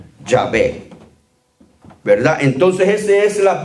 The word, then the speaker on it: Yahvé: Y para pronunciarlo sonaría algo como lo que estamos acostumbrados a oír: Yahvé. Yahvé, ¿verdad? Entonces esa es la pronunciación o el sonido judío que se le